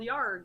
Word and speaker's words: Yarg: It's called Yarg, and it's pronounced Yarg.